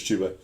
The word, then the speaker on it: Chuba: back for the Panthers is it pronounced chuba chuba I don't think it's chubba I always say chubba you see it you see it you think I'm pretty I'm pretty sure it's chuba uh chuba Hub 169